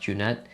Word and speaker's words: Xhynet: I know it doesn't look like that down there, but in Albanian, which is my ethnicity, XHYNET is how you would get that, but in English it's pronounced Junette.